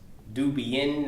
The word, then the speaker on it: Dubian: one my name is duban pronounced Duan as in nuan as in Nubian queens who presided over